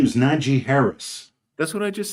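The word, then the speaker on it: Najee Harris: are you trying to are you trying to mispronounce his name on purpose what's his name his name is niji Harris that's what I just said no you you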